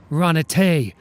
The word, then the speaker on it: Runate: RUNATE, rhymes with runaway, like we should.